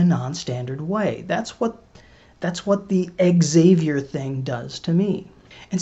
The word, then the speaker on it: Xavier: order to emphasize the X-ness of it all, he pronounced it Xavier.